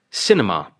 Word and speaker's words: cinema: On cinema, it is the first syllable.